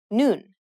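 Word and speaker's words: 눈: you read the block the bottom letter is the n sound just like the top letter combining these with the vowel in the middle you pronounce the whole block noon which means i in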